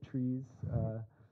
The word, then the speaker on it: tries: So today we're going to talk about hash array map tries or trees, and we tend to pronounce them tries. I guess in German you may pronounce it trees, so Peter, can you tell us a little bit about those?